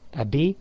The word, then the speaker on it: أبي: The origin of it, you would have said أبا واو and then يا. But then واو and يا, you cannot put them together in pronunciation. So you leave the واو and you say أبي في الكويت.